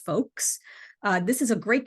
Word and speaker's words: FOLKS: food operators and leaders of color in schools pronounced folks uh this is a great community that provides